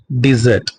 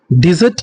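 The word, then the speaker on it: dessert: இ ஆர் டி டெசர்ட் இதை எப்படி pronounce பண்ணனும் டெசர்ட் டெசர்ட் அப்படின்னா எ sweet course after the meal நம்ம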